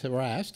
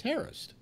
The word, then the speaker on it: harassed: I'm saying everybody says harassed and it's Harris is the actual pronunciation of the word but you know I